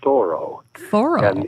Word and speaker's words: Thoreau: will tell you that the family pronounces its Thoreau in sort of the French way and Thoreau in fact